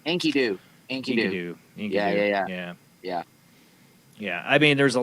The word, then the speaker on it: Enkidu: Enkidu.